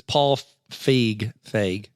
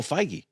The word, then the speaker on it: Feig: It's Paul Feig. Oh, Feige. Feig. No, not Feig? Feig. How do you say it? No E on the end. Oh. Because you're thinking of Feige, the guy, Kevin Feige for Marvel.